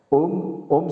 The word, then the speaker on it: Om: Om, c'est le son de l'univers, c'est le son de la création. Om, on écrit OM, mais on pourrait l'écrire AUM, les trois syllabes, les trois lettres de la création.